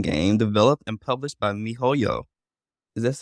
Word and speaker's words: miHoYo: Genshin Impact is an action role-playing game developed and published by MiHoYo. Is that how you pronounce it? Yes, it's MiHoYo, but it actually is now HoYoverse.